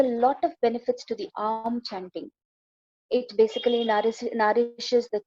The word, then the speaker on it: Om: The next is what is known as the benefits of, though it is mentioned as Om, the way it is pronounced is Aum. Aum. That's how it is.